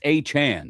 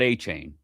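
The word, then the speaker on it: Achane: It's A-Chan. It's not A-Chain. He corrected everybody on that like 3 years ago.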